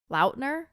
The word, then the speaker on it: Lautner: one right yeah L they say it's pronounced like l-o-w-t-n-e-r hello Lautner Taylor Lautner that's what it spelled like yeah okay um and then